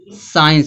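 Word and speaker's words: science: साइंस दिया है। साइंस में सी क्या है? साइलेंट है।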